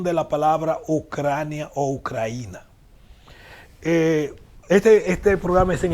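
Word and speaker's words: Україна: en 2010 en cruce en ucraniano que se pronuncia ucraína si ustedes ponen atención cuando se ley es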